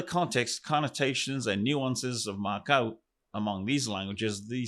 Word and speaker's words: makau: Well mau or matau is the subject for much of this uh episode.